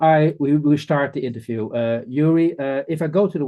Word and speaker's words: Gyuri: Well, it's actually Gyuri.